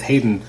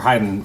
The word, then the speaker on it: Hayden: I was very curious in the first 5 issues when you're doing them with Hayden, or Haydn, how do you actually pronounce that? It's Hayden. It is Hayden.